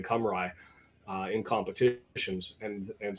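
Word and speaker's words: Cymru: Um, Turkey like Chetchia starting to announce and and use their preferred domestic pronunciation some like something like Wales becoming Camry uh in competitions and and so Turkey knocking off Romania earlier today.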